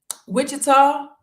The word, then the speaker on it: Wichita: And even this year, like we got to go see a safari in Wichita.